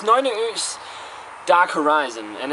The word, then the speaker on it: Nøgne Ø: It's called Nøgne Ø. Again, Nøgne Ø. I hear a lot of people saying like Nøgne Ø and stuff like that. It's way wrong. But it's Nøgne Ø's Dark Horizon, and it's